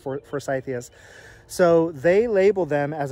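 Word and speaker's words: forsythia: for force ideas they're named after a guy names Forsyth so I'm assuming they're pronounced first ideas so they label them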